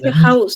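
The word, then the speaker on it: Haus: এখানে হাউস, ছয়ের মতন, হাউস তো শেষে আছে, এখানে হচ্ছে ইস্ট, জি স্যার, ভিতরে আছে, ছয়ের মতন হলো।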